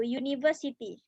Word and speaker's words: university: University. Terlihat dari tulisan dia pakai U. Harusnya mungkin nanti pasangannya N ya. N university. Tetapi dari pengucapan dia pakai U. Makanya a university.